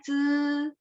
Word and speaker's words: zi: ZI itu bacanya C.